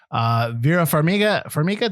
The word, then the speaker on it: Vera Farmiga: Vera Farmiga, did I say it right?